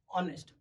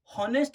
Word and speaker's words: honest: हैं तो उसका साउंड होता है ऑनेस्ट. हॉनेस्ट नहीं होता है.